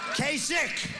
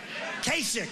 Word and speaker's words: Kasich: In fact, most people don't even know how to pronounce his name. Kasich. Quesick. Pretend it's a K. Kasich.